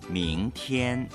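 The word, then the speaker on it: 明天: 이렇게 발음합니다. 明天明天明天明天 자, 그러면 내일 날짜 교체 문장으로 한번 연습을 해볼까요?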